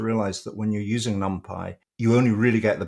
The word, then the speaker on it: NumPy: There is some dispute about how it should be pronounced. I think it's NumPy. Some people say NumPy or NumPy, but I think it's NumPy for numerical Python.